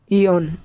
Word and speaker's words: yawn: আমরা দেখতে পাচ্ছি এখানে ওয়াই শব্দটি অর্থাৎ ওয়াই লেটারটি শব্দের প্রথমে আছে, যেমন YAWN ইয়ন।